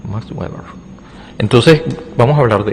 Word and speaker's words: Max Weber: Y bueno, la otra de las que es de la jaula de hierro, eh, es una frase de Max Web o sí, así se pronuncia, Max Weber.